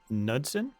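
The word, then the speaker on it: Knudsen: The Slender Man was created on the internet by Paranormal Photoshop Contest in 2009 by Eric, I believe it's pronounced Nudson.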